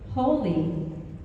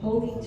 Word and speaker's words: Holi: Holi, as you know, if you don't know how to spell it, it might sound like H-O-L-Y, and it's